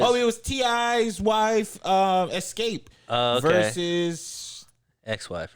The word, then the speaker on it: Xscape: Escape versus somebody else. 3LW. Type that in, Chris. Escape versus. The Ford Escape versus the Ford Edge. No, Escape is spelled off. XSCAPE. All right, hold on.